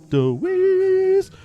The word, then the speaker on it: Dewees: The Teenagers Hitmaker, comprised of brothers Gerald and Mikey Way, Ray Toro, Frank Hierro, and James Deweese. You gotta say it like this, by the way. You gotta say, Deweese.